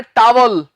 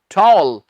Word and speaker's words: towel: इसे बहुत से लोग बोल देते हैं टावल। ओफो जी, मैं टावल भूल गया, मुझे टावल पकड़ा दे। टावल नहीं होता when it comes to English. English में इसे हम टावल नहीं कहते, इसे कहते हैं टॉल। O please give me टॉल। टावल नहीं, टॉल।